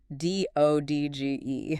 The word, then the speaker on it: dodge: D O D G E. Right. You don't say that middle D at all. It's just dodge.